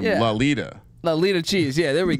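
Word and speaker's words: Lauletta: me why laletta cheese oh it sounds like velvet so we got to say his name lalita lita cheese yeah there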